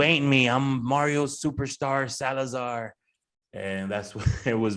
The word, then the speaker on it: Salazar: I was like, dude, that rhymes with Salazar, because nobody would call me Salazar.